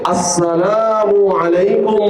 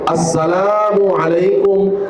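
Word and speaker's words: السلام عليكم: সহি উচ্চারণের মাধ্যমে আসসালামু আলাইকুম ওয়ারাহমাতুল্লাহি ওয়াবারাকাতুহ। পড়েন আপনারাও পড়েন। আসসালামু আলাইকুম ওয়ারাহমাতুল্লাহি ওয়াবারাকাতুহ। আমরা পাঁচ ওয়াক্ত মসজিদে ইমাম সাহেবদের সালাম শুনে থাকি। তারপরেও দেখবেন আমরা সালামে অশুদ্ধ হই। আমরা সালাম সহিভাবে উচ্চারণ করি না।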